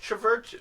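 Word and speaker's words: CHVRCHES: going to be uh churches screen violence sometimes pronounced traverches yeah and uh this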